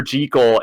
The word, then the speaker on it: Jekyll: And by the way, I said Jekyll because that's how you're supposed to pronounce that name.